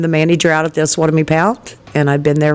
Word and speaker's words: Osawatomie: So now we know how to say it correctly going forward is Osawatomie Pound.